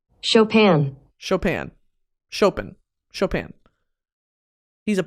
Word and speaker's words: Chopin: ] that makes so much more sense Opera shopen is it shopen Chopin's nocturn Opus 9 number two Chopin's second nocturn how to pronounce shopen shopen I'm so smart shopan [